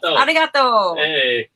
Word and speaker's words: arigato: Arigato.